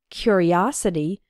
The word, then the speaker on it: curiosity: a curious boy and in the noun form curiosity the third syllable is strong o his curiosity got him into trouble